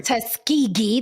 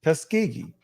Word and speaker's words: Tuskegee: say it again I'm going to say everybody Tuskegee there's a king there I got it Tuskegee I did it okay based off of that